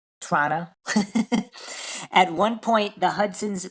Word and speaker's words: Toronto: It now has its headquarters in the Simpson Tower in Toronto or uh I think as Canadians pronounce it, Toronto. Toronto.